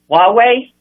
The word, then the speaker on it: Huawei: up you know that a technology company it's pronounced Huawei yes right a lot of a lot of